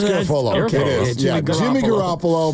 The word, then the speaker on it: Garafolo: It doesn't rhyme with Garoppolo. It's Garofalo.